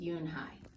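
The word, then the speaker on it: Unhei: Kim and then turned to Joey she nodded slowly yes and it's pronounced Yoon hide and it means grace mr.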